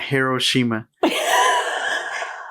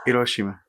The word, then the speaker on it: Hiroshima: I pronounce them correctly, by the way. Not Hiroshima. Hiroshima. Oh, okay.